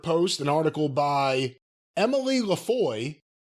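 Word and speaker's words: LaFroy: an article by Emily Lafoy. Is that how you say it? Lafoy? Lefroy, excuse me. Capital L, small a, capital F.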